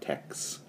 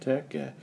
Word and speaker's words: TeX: tech file tex where the x is like a greek chi so it's pronounced tech not text a text file and